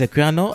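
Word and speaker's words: Equiano: it's called Google aquano how do you pronounce it it's aquano and I hope I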